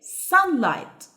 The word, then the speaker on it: sunlight: what else sunlight sunlight the GH is silent here okay sunlight pollution pollution pollution mean